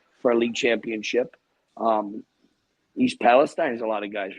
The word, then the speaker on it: Palestine: Would you stop saying East Palestine? It's Palestine. You know better. East Palestine. So do we have to have another train derailment for you to say it right?